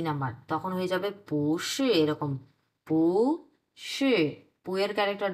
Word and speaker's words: 不是: Number, তখন হয়ে যাবে পুশি এরকম। পুশি, পুয়ের ক্যারেক্টার 2 নাম্বার হয়ে যাবে তখন। সরি, পুয়ের ক্যারেক্টার না, পুয়ের টোন, পুয়ের টোন তখন 2 নাম্বার হয়ে যাবে। তখন উচ্চারণ হবে এরকম যে পুশি।